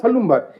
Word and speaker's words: Salumbar: They write salumbar but pronounce halumbar.